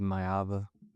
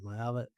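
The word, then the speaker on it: Maiava: Yeah, Jayden Myiava. Yeah, Myiava.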